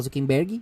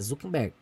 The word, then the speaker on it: Zuckerberg: Se você fala Zuckerberg, igual a gente fala, parece que tem Y no final. Entendeu? Mas é Zuckerberg.